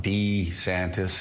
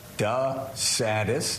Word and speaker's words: DeSantis: watch he called himself D santis his entire life and then the last year he called himself da saddest it's kind of kind